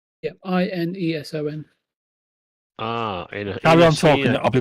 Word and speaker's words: Ineson: Hang on, Ralph Innocent. Am I saying that right, VJ? Ralph I'm probably saying the name wrong.